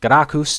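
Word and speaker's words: Gracchus: uh latin word right right right here uh garakus that's that's how you pronounce it because people have been uh having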